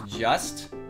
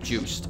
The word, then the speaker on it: Juste: by the way I thought his name was just but the way it's pronounced in curse of the ritual the knight is juiced and since that game was made by the